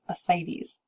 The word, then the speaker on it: ascites: that inflammation becomes painful the next word is ascites just pretend like the sea isn't there and pronounce that without the seat ascites any fluid that's accumulating